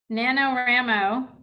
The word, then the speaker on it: NaNoWriMo: NaNoWriMo is what I call it. I'm pretty sure that's what it is, actually. Okay. I was like, I'm pretty sure that's how you say it.